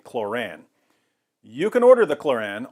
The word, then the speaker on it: Kloran: kkk's handbook is called it's called the chloron or chloran I'm not sure how they pronounce it it's supposed to parallel the Quran but with their Alabama accents I imagine they would say chloran you can order the